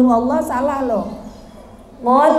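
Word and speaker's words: قُلْ: Kalau ibu nggak bisa ngucapin huruf qaf, ibu membaca kul huwallah salah loh. Qul huwallah harus pakai qaf. Katakanlah. Qul itu katakanlah. Kalau kul pakai kaf itu makanlah.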